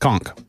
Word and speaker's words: conch: The proper pronunciation is conchk. Conchk.